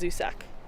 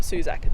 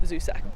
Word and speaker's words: Zusak: I always say his name wrong. I think it's Zusak. Zusak, not Suzak, Zusak.